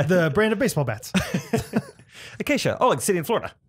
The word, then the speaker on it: Acacia: the CIA may be acacia that's acacia okay like the bird like the fraternity kind of state I